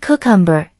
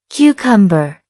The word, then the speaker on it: cucumber: If you said cucumber, that's a common mistake. The correct pronunciation is cucumber. Cucumber. Let's break it down. Cucumber. That's 3 syllables. Notice the stress on the first syllable.